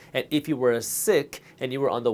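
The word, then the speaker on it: Sikh: sick religion and yes it's pronounced sick not seek giving is a fundamental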